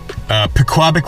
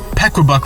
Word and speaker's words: Pequabuck: Now, I'm going to be fishing the Pequabuck River today. And, you know, I should mention, by the way, that I've always pronounced it Pequabuck, and then one of my